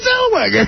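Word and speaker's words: Zellweger: THERE'S A W. CLEARLY A W. All right. Let's Let's hear YOU PRONOUNCE IT. RENEE ZELWAGGER.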